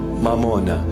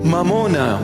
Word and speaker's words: mamona: mamuna in our language mamona Mamon in English they just translated it you know sounding Aramaic almost Aramaic it's not M mamona come I teach you the proper pronunciation mamona money the Lord himself